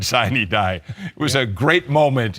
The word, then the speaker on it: sine die: When the gavel comes down tonight, the General Assembly will adjourn sine die.